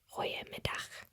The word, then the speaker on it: goeiemiddag: afternoon, it follows that similar pattern at the beginning, goeie. But it would say goeiemiddag. Goeiemiddag. Goeiemiddag. Goeiemiddag. And if you're going to say good morning, it's goeiemorgen. Goeiemorgen. Goeiemorgen. Goeiemorgen. So as you've noticed, all the goods are goeie.